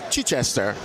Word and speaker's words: Chichester: the one and only Chai Chester or Chichester if you want to use the um British pronunciation uh how you